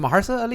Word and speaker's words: Mahershala Ali: Is it Mahershala Ali? That's how you say it.